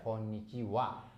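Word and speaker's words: こんにちは: Jadi cara bacanya wa gitu ya. Jadi kalau ini sebenarnya partikel tapi kalau ini teman-teman pusing jadi nggak apa-apa langsung aja konnichiwa. Tapi tulisannya konnichiha gitu ya teman-teman ya.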